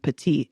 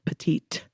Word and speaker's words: petit: So because it's masculine, you use le, which is the masculine article, and petite instead of petite. Like, basically the last T is silent in the masculine version.